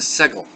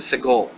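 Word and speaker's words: סגול: Now, This is the only one that actually is pronounced somewhat differently, and this is called the segol. The segol.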